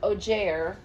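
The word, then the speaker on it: augur: It's It is pronounced ojair.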